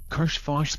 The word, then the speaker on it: Karshfosh: Karshfosh, pronounced throaty KKHHAHSHHFAHSHSST.